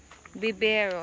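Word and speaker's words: vivero: not what it means bibero I forget that you must pronounce it with a B okay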